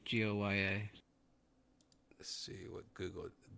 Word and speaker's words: Goya: Seesaw Francis De Goya. Goya. Let's see what Google How do you spell it?